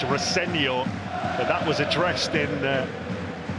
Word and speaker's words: Rosenior: Like you, Nigel, I've worked a lot with his dad, Leroy, and he always says it's pronounced Rosenior, but that was addressed in pre-match press conference. Liam Rosenior said, "I'm happy to be called either, as long as you're nice about me."